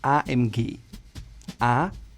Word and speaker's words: AMG: The proper German way to say it would be AMG.